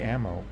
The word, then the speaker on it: Ammo: ammo have cloning tech i also realized i've been saying their name wrong the entire time i don't know how to say it ammo you just say ammo ammo does it have